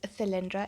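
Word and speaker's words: Thalindra: So, her name is Theelindra. It's spelled T H A L I N D R A.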